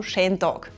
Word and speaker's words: Schen Dog: Typically, “beautiful” becomes “sche” in our dialect and we pronounce “day” like “dog.” So that makes “Schen Dog”.